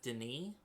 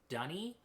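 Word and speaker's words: D'ni: books, and I have always read this as Denis, um, which is how, D apostrophe N-I always looks to me. But apparently it's supposed to be pronounced Dunny, which is just the worst.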